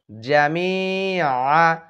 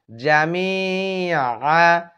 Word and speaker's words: জামিআ: জামিআ, আইন হরফটি শক্ত করে উচ্চারণ করবেন। জামিআ, আহ আহ, এখানে হামজা হা জবর আহ।